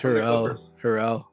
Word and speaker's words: Harrell: Hartzell, or how do you pronounce his last name? Montrez Harrell.